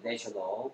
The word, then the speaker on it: national: 발음이 달라진다는 거 주의하겠습니다.